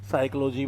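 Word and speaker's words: psychology: Silent जैसे Roman लिपि में होते हैं। साइकोलॉजी में पी साइलेंट हो गया।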